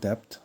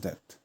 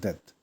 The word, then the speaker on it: debt: in debt it's not depth don't say depth it's debt यानी कथे है ना so B is silent so debt so cut down your